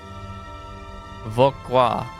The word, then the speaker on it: Vauquois: I don't need a 2-minute long video to pronounce this. Vauquois.